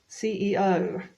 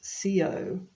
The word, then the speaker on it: CEO: but for the pronunciation I've heard it pronounced Co before but then you wouldn't be understood you have to pronounce each letter now this is the